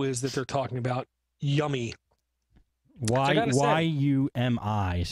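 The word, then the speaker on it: YUMI: And what this tool is that they're talking about, Yummy. Y-U-M-I is how they spell it.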